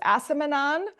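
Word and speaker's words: acemannan: You know, you talked about the fructooligosaccharides and the what we say at ace-mannan. So you say it again, it was asamanon. That's new. We've been saying it wrong, or maybe we say it right both ways.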